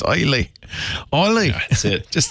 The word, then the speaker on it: Islay: Islay. Yeah. Okay, like an isle. Without the brogue. I can't do the brogue. So, it's great. It's Islay.